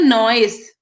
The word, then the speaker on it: novice: बट इसकी word जो होता है NOVICE होता है, और यहाँ पे NO जो V है वो साइलेंट होता है, नॉइस नहीं होता, इट्स नॉइस। Pronounce it एज नॉइस।